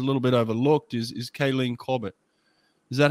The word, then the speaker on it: Kaylene Corbett: maybe is a little bit overlooked is is kayleen corbett is that how you pronounce her name that's right i mean what